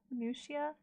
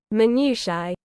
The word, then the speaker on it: minutiae: I think that was one of the minutia. Pretty much. This is a little bit better. Minutia. American pronunciation. Let's see the British pronunciation. Minutiae.